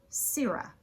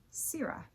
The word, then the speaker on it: sirrah: This word is pronounced sira. I like to remember it because it kind of sounds like you're saying the word syrup but without the p at the end.